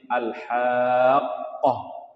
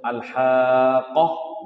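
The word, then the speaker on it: الحاقة: ya Wa adral haqoh jadi nanti bacanya ditekan sedikit alhaqqoh begitu tidak langsung alhaqoh begitu karena di situ ada dua Q yang harus kita baca yang ditandai dengan tasdid maka bacaannya alhaqoh jemah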